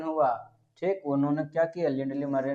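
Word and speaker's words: Lindley Murray: थे, तो बोलता है लिंडले मुरय। अच्छा एक स्टूडेंट बोल रहा था एम यू से मुंह और रैत यानी मुरय, तो इसका प्रोनाउंसिएशन मुरय नहीं है, क्या है, लिंडली मरे बोला जाता है।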